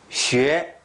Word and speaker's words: 学: 学习学 이거 한국인 어려운 발음이죠. 学学学习续约 그 소리죠.